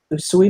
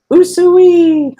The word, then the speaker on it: Usui: to say his name think about calling cows and pigs in the old-fashioned way usually that's literally his name